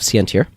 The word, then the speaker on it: Sientir: Online I used the username of Sientir. That's how you pronounce that.